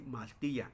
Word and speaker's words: maltia: Sí, maltia. Escuchen cómo lo estoy pronunciando. Maltia, ¿sí? Esa i que es y sí.